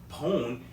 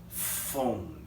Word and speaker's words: phone: PH, we don't say pone, it's pronounced as phone. So keep that in mind.